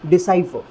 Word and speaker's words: decipher: देखिए सबसे पहले ड की साउंड है, उसके बाद में शॉर्ट ई की साउंड है, उसके बाद में स की साउंड है, फिर आ ई, ये डिफ्थोंग्स है दोस्तों।